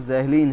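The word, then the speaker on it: Zahlen: Z German शब्द ज़हलीन हम ये प्रोनाउंसिएशन ज़हलीन है। हमने अंग्रेजी में थोड़ा शायद गड़बड़ कर दिया। यह उच्चारण जहलीन है। प्रोनाउंसिएशन जहलीन है।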